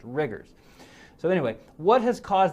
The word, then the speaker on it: rigors: fevers rigors and hypotension now that word riggers you'll hear pronounced rigers by some physicians i'm not really sure why we never talk about rigor mortis being the stiffness a body gets after death we talk about rigor mortis well this is the same